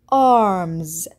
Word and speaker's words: arms: طيب كيف لفظنا الإس في نهاية الكلمة؟ لفظناها بصوت حرف الزي arms.